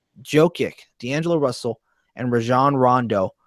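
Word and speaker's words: Jokić: I'm Jokic. I'm going. I don't remember really how you pronounce it. And it says Sing. Hey, thank you for letting me know. It's pronounced Jokic.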